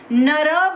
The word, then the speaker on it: नरः: तो इस तरह से नर बन जाएगा हमारा। और जब नर बनेगा तो उसके पीछे यदि विसर्ग लगेगा तो वो अकारांत पुल्लिंग हो जाएगा। फिर उसका उच्चारण हम करेंगे नरः।